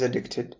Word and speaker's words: addicted: It's a person who is addicted to a particular substance or activity. Some rich people become drug addicts. If you shift that stress to the mid syllable of the word, making it addicted, then you have the